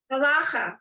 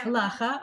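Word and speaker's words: הלכה: Halacha, yeah. Halacha. Okay. I think the proper Hebrew pronunciation, the way it's is halacha. Oh. But that's okay. We all say halacha.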